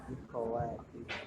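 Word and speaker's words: إِخْوَتِي: Perhatikan, kalau ada hamzah, kepala hamzah di bawah, berarti kita diharuskan membaca dengan kasroh. Ikhwati.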